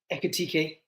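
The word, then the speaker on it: Ekitiké: a bit of um fact finding about Hugo eekk um and and that's how you say his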